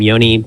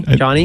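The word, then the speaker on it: Jony: Where I can say, is that his name, Yoni? Johnny? I think Johnny. he pronounces it Johnny. I thought. Oh, you say Johnny? Does he say Yoni? I don't know. Andy, what do you say? I think it's Johnny.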